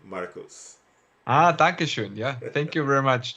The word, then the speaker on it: Dankeschön: I think it's I'm maybe mispronouncing, but Fernando says Duncan Scone Markus. Ah, Dankeschön.